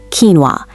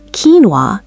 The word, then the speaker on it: quinoa: And one more, quinoa. It's quinoa, not quin-o-a.